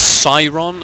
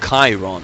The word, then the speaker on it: Chiron: It is Cyron and not Chiron, apparently.